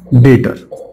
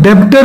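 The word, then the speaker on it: debtor: गया डेटर ठीक है इसको डेबिटर नहीं बोलते बिकॉज बी जो है वो य साइलेंट है इसको जो बोलते हैं इसका प्रोनंसिएशन जो है वो डेटर का है इट इज नॉट डेटर इट इज डेटर ये इसका प्रोनंसिएशन है तो अपन को यह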